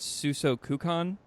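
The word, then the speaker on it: 数息観: is called, I believe I'm saying it right, Suso Kukan?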